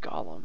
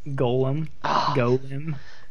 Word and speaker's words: Golem: very good with oh mix oh it's not pronounced Gollum what how am I Gollum is a character from Lord of the Rings Golem Golem thank you says says the guy who constantly